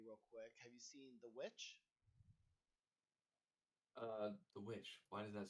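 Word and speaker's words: The VVitch: Have you seen The Witch? The Witch. Why does that sound familiar? It's spelled like VV itch.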